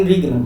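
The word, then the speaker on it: interregnum: अब देखिए इसमें जो टी है, टी जो है वो साइलेंट है, क्या है? साइलेंट, इसका प्रोनाउंसिएशन नहीं करना है हमें, तो इसको हम पढ़ना है इन रीगनम।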